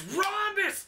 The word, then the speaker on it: Rhombus: He's mad because everybody pronounces his last name wrong because it doesn't have all the letters it's supposed to have. It's Rhombus, damn it!